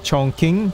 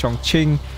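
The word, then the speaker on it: Chongqing: so sorry about that did not pronounce my pronunciation on the chong king that's the correct pronunciation that pronounced chong ching i'm so sorry on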